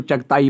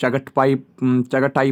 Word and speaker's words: चगताई: बाबर जो है ना, बाबर की जो फैमिली थी वो चगटे, कुछ इसको चगताई पढ़ता है, कुछ चगटाई पढ़ता है। वो मतलब आप जैसे प्रोनाउंसिएशन करोगे आपकी मर्जी, लेकिन पता होना चाहिए।